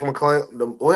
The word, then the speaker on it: McClung: Mac McClung, how you say his name correctly?